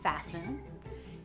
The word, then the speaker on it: fasten: It can be silent, like in the word fasten.